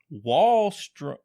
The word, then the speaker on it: Wahlstrom: You got to think of the Clippers, man. Yeah, like the wall Clippers and then strumming guitar is literally what he just said. Yes. But we have Wahlstrom.